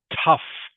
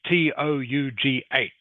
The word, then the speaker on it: tough: I know this this word here is pronounced tough. Everyone just as if it was spelled tuf. Tuf is how it's pronounced. Okay? Even though it's spelled t o u g h, it is pronounced tough.